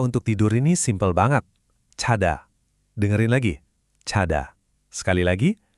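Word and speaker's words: 자다: Cada.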